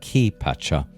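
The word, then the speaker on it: Kay Pacha: there is the kai usually pronounced key patcha the surface or external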